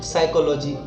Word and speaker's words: psychology: Silent हो जाता है, PSYCHOLOGY पी साइलेंट हो जाता है साइकोलॉजी।